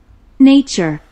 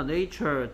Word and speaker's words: nature: 명사일 때 얘 여기에 있는 A는 뭐 그 한글로 뭐 굳이 쓰자면 이런 소리가 나요. nature 이렇게 됩니다. 뭐 발음 기호 정식으로 쓰면 nature 에 이 발음이 되는데요.